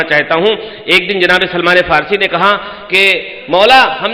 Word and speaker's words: سلمان فارسی: دوں معذرت کے ساتھ، پنجابی لہجے میں بعض لوگ حضرت سلیمان فارسی کو سلمان فارسی کو سلیمان فارسی کہتے ہیں، یہ غلط ہے۔ وہ ہے سلمان فارسی، وہ سلیمان پیغمبر تھے،